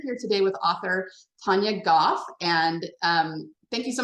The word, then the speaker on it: Gough: I actually write under the name Tanya Goff because as some science fiction uh fantasy uh